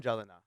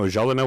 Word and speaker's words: Gelinas: It's a hard G. It's Ja. J. Yeah. It's like you're an Oilers fan. Like Martin Gelina. No, Gelinas was a soft was he?